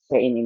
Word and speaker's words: cin: C in bacanya C in ya, Teman-teman.